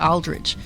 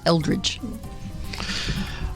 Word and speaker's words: Eldridge: Because I tried to put an A in there, like Aldridge, but it's Eldridge.